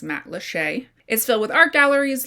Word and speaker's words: Matlacha: Matlacha, which looks like Matlacha on paper, but it is in fact pronounced Matlacha, is filled with art